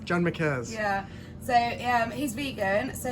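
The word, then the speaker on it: John Marquez: John Marquette's? John McCares. John McCaz.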